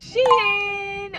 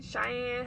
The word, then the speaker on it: SHEIN: did my first purchase from Shin or Shin Cheyenne however anybody pronounce it I say Sheen personally but um I got